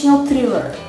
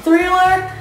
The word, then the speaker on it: Thriller: because I learned that you have to put your tongue in the middle of your teeth when you pronounce the "TH" sound... so she had Thriller, and she had Off The Wall.